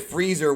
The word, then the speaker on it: Frieza: antagonist is freezer and he calls it freezer which is not an incorrect way to say his name um the spanish